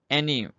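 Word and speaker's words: ennui: एन्यू, एन्यू इसको पढ़ते हैं, इसकी थोड़ी प्रोनाउंसिएशन ट्रिकी है, आप इसको बार बार चेक कीजिएगा।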